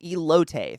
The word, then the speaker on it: elote: Is it elote? Elote, thank you.